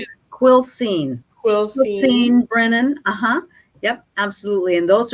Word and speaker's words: Quilcene: How do you spell that? How do you say it? Quilcene, Brennan.